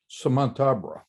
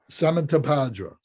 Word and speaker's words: Samantabhadra: Who is Samantabra? I can't say it. Samantabhadra. Samantabhadra. Was it 4 syllables or 5 syllables?